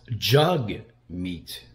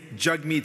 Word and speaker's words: Jagmeet: March Simpson uh that his name is pronounced jug because he's a jug head my name is jug meat sing for the record that's jug like hug the very first day